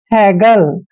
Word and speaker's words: haggle: HAGGLE, H का उच्चारण है करते हैं, A को ए की मात्रा पढ़ते हैं, और डबल G का उच्चारण हमने ग करना है, LE को ले पढ़ना है। हैगल, अब हैगल क्या होता है?